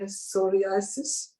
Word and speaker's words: psoriasis: it's difficult okay i'm going to try to pronounce it it's the press repressive sorry i sorry psoriasis no um it spells p-s-o-r-i-a-s-i-s psoriasis you cannot